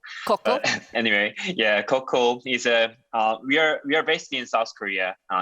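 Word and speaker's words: Cochl: My name is Yun Chang, and yeah, actually, our company name pronounced as Koku. Koku.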